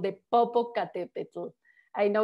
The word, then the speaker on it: Popocatépetl: It's called the Popocatépetl. I know it's hard to pronounce. Basically, the name is not Spanish. The name is in the native language.